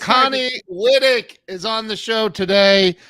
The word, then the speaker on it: Wittich: was I thought it was and it's Connie lydick is on the show today Connie listen I